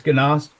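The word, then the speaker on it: Genaust: how to pronounce it it's jast or ganos ganos it's ganas great thank you yeah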